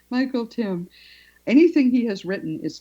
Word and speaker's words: Tymn: They're older books, but I recommend anything that Michael Tim, and his name is spelled T Y MN with there's an N. It's like him. It rhymes with him. Michael Tim.